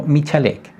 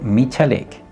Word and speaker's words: Michalek: Los nombres que has mencionado son bien conocidos por nosotros, pero los has pronunciado mal. El primero se llama Adamski, el segundo Genovés y el tercero Michalek.